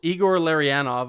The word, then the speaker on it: Igor Larionov: Igor Larionov.